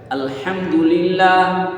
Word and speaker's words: আলহামদুলিল্লাহ: তেমনিভাবে আলহামদুলিল্লাহ আলহামদুলিল্লাহ আলহামদুলিল্লাহ আলহামদুলিল্লাহ আলহামদুলিল্লাহ আলহামদুলিল্লাহ, এই আলহামদু হাটা যেন বড় হা গলার মাছ থেকে উচ্চারণ হয় এবং স্মৃতিমধুর।